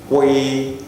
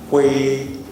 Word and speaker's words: kw: we at the same time so you go qu qu qu that's how to pronounce it okay qu qu okay while you learning how to pronounce